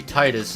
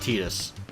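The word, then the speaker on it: Tidus: tedious for Kingdom Hearts I know it's supposed to be Titus in Final Fantasy 10 but this is just imagine this different character alright that's how you pronounce it tedious I might even slip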